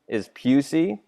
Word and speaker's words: Pusey: So yeah, you'll notice my last name is Pusey. That's how it's pronounced.